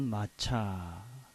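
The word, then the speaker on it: מָצָא: 이거는 우리가 히브리 말로는 마차 이렇게 있습니다. 마차라고 읽는 말입니다.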